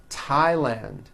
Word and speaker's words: Thailand: spelled with a th they are pronounced as if they were spelled with a normal T TT like that and these words are Thomas Thompson Teresa Thailand TS like the river